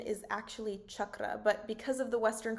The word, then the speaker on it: chakra: The original pronunciation is actually chakra, but because of the Western commercialization of yoga, you'll often hear it being referred to as chakra or chakra.